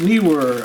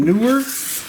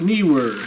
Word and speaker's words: Neewer: we held the knee were but he was pronounced knee were I often pronounced in Newark but believe it's pronounced knee were anyway these are the soft boxes for my